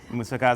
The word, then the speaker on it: moussaka: one being hummus and the other the other pronounce it for me moussaka moosaka is a classic greek dish okay um that